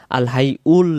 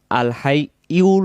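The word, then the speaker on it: ٱلْحَيُّ: আমরা যদি বলি আল হাই ইউল, তখন ইয়া উচ্চারণ হবে, ইয়া পেশ ইউ। আর যদি বলে আল হাই উল, তখন হামজা পেশ উ হবে।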